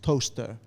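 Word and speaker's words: Towcester: It's spelled t o w e s t e r, right? Which is like I was like, "Oh, how do you pronounce this? Is this Is this Towester or Towes?" And they were like, "It's toaster."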